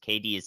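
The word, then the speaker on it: Cadiz: KDs is the pronunciation on that.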